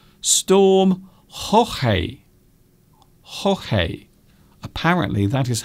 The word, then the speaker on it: Jorge: Storm Jorge. Apparently that is how you pronounce it in Spanish.